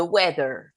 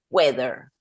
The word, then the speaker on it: weather: es es una d weather Okay es una de weather esto básicamente se pronuncia como lo leo y recuerdo que esta th Así es una d de dedo weather y acá también